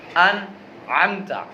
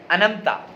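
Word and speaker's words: أنعمت: تو نے انعام کیا۔ انعمت عین کے ساتھ، الف نون عین میم تا، انعمت۔ اب اگر اسے کوئی شخص، میں کہہ رہا ہوں تلفظ کی بات کروں، اسی لفظ کو کوئی شخص کیا پڑھے؟ انمتا، کیا؟ انمتا، الف نون میم تا، عین کو نکالے نا، عین کی آواز ہی نہ نکالے، انمتا، تو کیا معنی ہوگا؟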